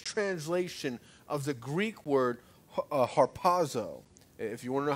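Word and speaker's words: ἁρπάζω: Those two words are the English translation of the Greek word harpazo. If you want to know how to spell it, it's H-R-P-O-Z-O, harpazo.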